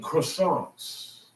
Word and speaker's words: croissant: You don't want to eat croissants. Croissant. That's how they're croissant. You gotta say it like that. That's how the people in French, they say French words.